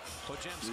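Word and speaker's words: Podziemski: It's pronounced Pojemski. Lay. Just pretend the D and the Z are a J.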